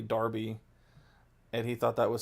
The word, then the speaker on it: Derby: he didn't understand that Derby is actually Darby, and he thought that was so dumb, and so we called it the Darby Darbs.